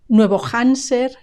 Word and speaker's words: Nuevo Hampshire: The H has a strong G sound. Hampshire, Hampshire. And the P is silent. And SH is either S or SHE.